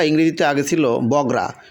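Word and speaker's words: Bogura: বানানটা ইংরেজিতে আগে ছিল বগরা বি ও জি আর এরা বগড়া শুনতেও কিন্তু খারাপ লাগতো বাট এখন হচ্ছে বি ও জি ইউ আর এরা বি ও বো জি ইউ গু বগুরা বগুড়া এটা কিন্তু অনেক ভালো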